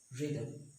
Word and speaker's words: rhythm: see triangle service or rhythm we see rhinoceros rhythm the next one many word starts with W H the H is silent for example what generally we see what